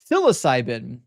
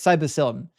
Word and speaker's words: psilocybin: Psilocybin, not psyllin.